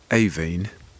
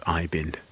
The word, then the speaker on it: Aibhín: should be of course aen and not iin as I think we were all saying so you'll be hearing Rebecca Manley and John Preble talking about a kite for aen by sheam missini the